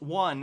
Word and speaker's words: yuan: Logarth says, the yuan, pronounced one, is the Chinese dollar.